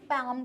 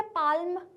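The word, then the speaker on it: palm: काम को इससे कनेक्ट करके देखिए। जैसे हमने काम में एल को प्रोनाउंस नहीं किया था वैसे ही हम पाम को भी में भी एल को प्रोनाउंस नहीं कर रहे हैं। क्या हम इसको ऐसे बोल रहे हैं क्या? पालम नहीं। हम इसको क्या बोल रहे हैं? पाम। तो इसलिए हमारा इसमें एल वर्ड साइलेंट है।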